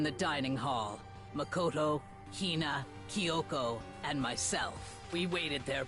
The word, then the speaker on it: Kyoko: Kyoko, that's how you pronounce her name.